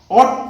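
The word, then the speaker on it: oughta: অট to, should, উচিত, কর্তব্য ইত্যাদি বোঝাতে যেমন আমরা শুড ব্যবহার করি, তার পরিবর্তে অট টুও ব্যবহার করা যায়। অট টু, একে উচ্চারণ করা হচ্ছে অটা সংক্ষেপে।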